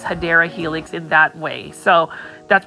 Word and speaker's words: Hedera helix: For the longest time when I was shopping, I would say Hydra Helix, and somebody corrected me on the correct pronunciation, but for some reason people like me saying it, so I will continue to pronounce Hedera Helix in that way.